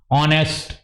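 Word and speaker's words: honest: आवाज नहीं आ रही तो क्या लगा एन ऑनेस्ट ह की आवाज नहीं आ रही तो क्या लगा एन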